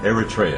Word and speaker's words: Eritrea: your mother is from Eritrea Eritrea Eritrea is the correct pronunciation and uh it's a